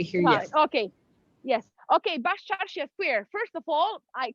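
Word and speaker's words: Baščaršija: Okay, Bascarsija Square.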